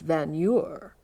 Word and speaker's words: Vagneur: And finally he turns to my friend Jerry and he said, "And you have always pronounced your name incorrectly. It's Van Eur."